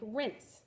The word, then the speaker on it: rinse: out for you so remember this is a silent e so i'm not gonna sound out the e r rinse like rinse maybe your mom's told